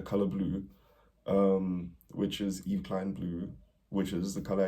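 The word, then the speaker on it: Yves Klein: blue is called um Eve Klein blue Eve like Eve Saint Laurent yo look at you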